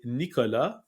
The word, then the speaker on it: Nicolas: So this is by Nicolas, and I pronounced it the French way for a reason.